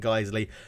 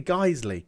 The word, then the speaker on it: Guiseley: it and guys a geisley geisley I'm pretty sure is how you say it geisley let's dive in and